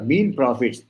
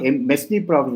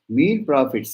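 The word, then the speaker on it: mesne profits: are used sir sure mean prophets it's not mes prophets most of the people pronounce it as mes prophets no it is mean Prophet s is silent mean profits is there are three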